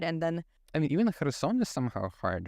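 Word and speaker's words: Херсон: But I had a friend from Kherson, and that's how you pronounce it in Ukrainian, Kherson. But then somehow she would say Kherson every time, like with a very plosive K there in the beginning.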